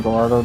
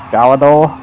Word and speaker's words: Gallardo: I have a habit saying Gallardo just instead of Gallador because that's how I used to call it. I realize the pronunciation is Gallador, but it's a 113.656 with the Gallador, so this annihilates that.